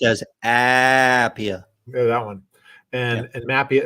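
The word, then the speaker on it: APIA: the American Association of public insurance adjusters better pronounced as Appiah yeah that one and Mafia as well and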